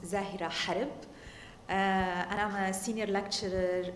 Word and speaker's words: Zahera Harb: name is zahir ahar in arabic it's pronounced zahira harib and i'm a senior